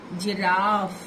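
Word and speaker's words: ज़िराफ़: दिवस, जिराफ नुक्ता वाला शब्द है, इसलिए इसका उच्चारण मैम ने कुछ अलग तरीके से किया है, ध्यान से सुनिए। जिराफ, अड़ंगी, अड़ंगी।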